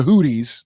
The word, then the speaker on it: Houthis: So we're going to use a bunch of munitions on the Houthis. That's how it's pronounced.